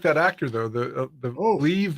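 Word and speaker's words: Liev: I do like that actor though the the leave live how do you say his name leave yeah I like him and his voiceovers are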